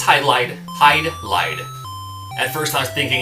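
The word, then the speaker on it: Hydlide: thinking it could be highly day because it's japanese but even the japanese game has the borrowed language because it's written in katakana which is hai do rai do highlight stands for sucks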